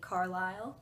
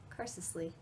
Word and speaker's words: Carlisle: learned how to say Carlisle so far in the book I had been pronouncing Carlisle's name Carsley because I thought that's how you said it baseball scene was really